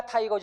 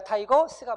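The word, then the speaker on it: 타이거스: 기아 타이거즈 아니고 기아 타이거 스가 맞습니다.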